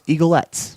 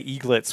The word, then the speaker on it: eaglets: Some may call those mini Eagles eaglettes. I was going to say eaglets would be the way. Eaglets. I mispronounced it.